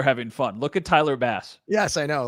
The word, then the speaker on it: Bass: Look at Tyler Bass. Yes, I know, like the fish. Bass, like the fish, which is well, because BASS, like they're telling you, don't say base.